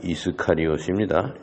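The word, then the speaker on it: Ἰσκαριώτης: 그것을 성경의 그리스어 원어로서 있는 것을 발음을 한다면은 유다스 이스카리옷입니다.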